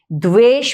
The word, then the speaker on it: द्वेष: ठीक उसी तरह हम सिर्फ देश या वेष नहीं पढ़ते द्वेष पढ़ते हैं।